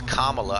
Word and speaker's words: Kamala: our new president uh camilla harris he said it's kamala i thought gibbyshell that's how she pronounces her name bro i don't give